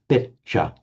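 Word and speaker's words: pecca: But here, it's followed by a doubled consonant, and so the E is pronounced short, pecha.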